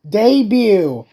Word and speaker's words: debut: Oh, debut, not debut. Did you really mispronounce debut as debut? I'm hungry. Okay. Debut. Okay, fine. First I said debate, then I said debut. It's debut, woman. Silent.